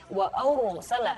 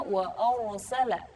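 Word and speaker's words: وأرسل: Tapi jangan juga membacanya terlalu bibirnya terlalu agak manyun gitu. Wa arsala. Nah, itu kurang tepat. Tapi membacanya wa arsala.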